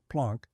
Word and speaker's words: Planck: In the final weeks of the year 1900, a German theoretical physicist named Max Plank, pronounced Planck, sat at his desk in Berlin, desperately attempting to fix the mathematics of the hot oven.